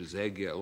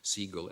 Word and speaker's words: Zegel: It's spelled in Yiddish Zegel, although it's often, when he's mentioned as Siegel, S-E-G-A-L in English.